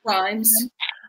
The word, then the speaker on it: Rhimes: I love that, like, Julia Quinn and Shonda right, how do you pronounce her last name? Rhimes.